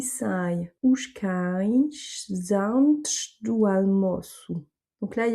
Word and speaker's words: antes: Et là, le antes, le S à la fin, on va le reprononcer ch parce qu'après on a un D, donc on ne fait pas la liaison.